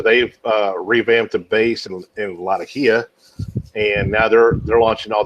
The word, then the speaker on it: Latakia: Latakia versus Latika. Same fucking thing. I call it Latakia because that's how the town's pronounced in Turkey or Syria.